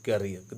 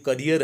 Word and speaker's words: career: when, और never in हिज करियर, देखो यहाँ पर ये स्पेलिंग देखो, ये करियर है, CAREER, ये इसको उच्चारण क्या देते हैं, इसको करियर, और एक होता है CARIER, वो होता है कैरियर, कैरियर मीन्स वाहक, ले